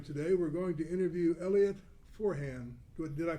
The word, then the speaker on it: Elliot Forhan: We're going to interview Elliot Forhan. Did I pronounce the name correct?